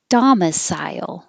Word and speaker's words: domicile: hear the adverb exceedingly domicile i put sile as two to remind you when you go high for psy to come down for the l sile domicile i had to stop